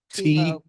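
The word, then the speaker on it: Thuillot: how be your last name it's pronounced TW TWA spell it t t h UI l o t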